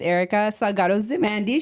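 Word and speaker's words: Erika Salgado-Zimandy: Hi everyone, my name's Erica Salgado-Zimondi.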